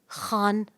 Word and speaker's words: Khan: काम करना शुरू किया तो मैंने उसे कहा खान बोलो खान डोंट तुम फ्रेंच मेनू पढ़ सकते हो तो मेरा नाम ले सकते हो मेरा नाम सही प्रोनाउंस करोगे अच्छा व्हाई नॉट बिल्कुल